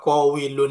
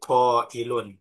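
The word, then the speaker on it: قَائِل: Jadi koilun. Kola menjadi koilun, bukan menjadi kowilun.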